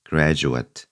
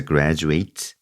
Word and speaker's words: graduate: 자, 이것은 단어의 뜻에 따라서 발음이 조금씩 바뀝니다. 졸업하다라고 하면은 graduate라고 발음을 하시면 되고, 졸업생으로 쓰고 싶다면 graduate 이렇게 발음을 해주시면 돼요. 그래서 graduate.